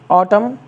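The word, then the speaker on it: autumn: इसको आप लोगों ने पढ़ा ही होगा कॉलम ऑटम इसका मतलब पतझड़ होता है नेक्स्ट वर्ड आपका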